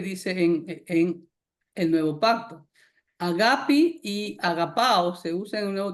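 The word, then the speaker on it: ἀγάπη: La palabra amor en hebreo es aá y en griego es agapi. No es ágape, es agapi. Así se pronuncia.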